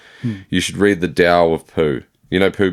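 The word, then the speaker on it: Tao: And it's spelled T A O. I think that's it. It's Dao, but it's towel.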